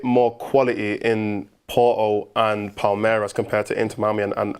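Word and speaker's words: Palmeiras: there's a bit more quality in Porto and Palirez compared to Inter Miami and Al Ali. That's how you pronounce it.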